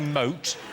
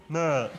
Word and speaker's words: moat: I'm guessing that you're trying to say moat, but you're saying mert.